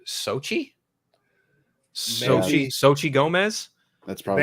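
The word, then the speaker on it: Xochitl: of her name is x-o-c-h-i-t-l but apparently it comes out to sochi so sochi gomez that's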